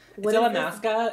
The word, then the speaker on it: Illamasqua: Okay, first of all, illamasqua is how you pronounce the thank brand.